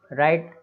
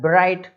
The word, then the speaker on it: write: तो इसमें राइट लिखना होता है ब्राइट, कई लोग ब्राइट ऐसा नहीं बोलना है, केवल राइट।